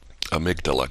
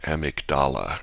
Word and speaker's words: amygdala: and you let the amygdala grab you or emic dala as some people mispronounce it you let the amygdala